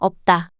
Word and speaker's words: 없다: Of the complex consonants, only 비읍, is pronounced.